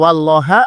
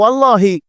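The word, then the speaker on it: وَاللّٰهَ: Kemudian bel melanjutkan wallaha ini hati-hati membacanya karena kalau salah kasrah itu jadi beda maknanya ya. Kalau wallaha aku memohon kepada Allah. Tapi kalau wallahi apa jadinya? Sumpah apa? Bersumpah ini wallaha dan hanya kepada Allah subhanahu wa taala asaluhu.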